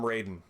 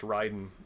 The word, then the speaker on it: Raiden: went on you know ryden from mgs of course uh is uh you know is pronounced ryden because that's how he was pronounced right from the start and i think mortal kombat still pronounces him raiden and and i think